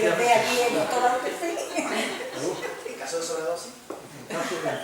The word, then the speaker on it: Outhefëm: Entonces, realmente esto se lee tal cual se escribe en español. Está escrito Eutefin, pues Eutefin.